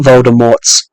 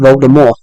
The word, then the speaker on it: Voldemort: not actually it's not Voldemort um JK Roland wrote it as French and the t is silent so it's actually should be pronounced Voldemort so it it